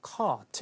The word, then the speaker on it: cart: 자, 호주나 영국에서 이제 R 사운드가 이렇게 하고 혀를 이렇게 당기듯이 발음하는 그 R coloring이라고 하는데 그런 게 이제 북미 발음에 비해서 없죠. 근데 이제 그 길이만큼 발음은 되고 그래서 cart 이렇게 되는데 자, 카트는 여러분들이 쇼핑하는 데서 끄는 그 카트예요.